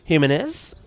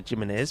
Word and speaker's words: Jimenez: Of course, the J, like it is in most of, like in Spain and Portugal, normally pronounced like the H. So Tony Jimenez going out there. Portugal, they do pronounce it as a J, don't they?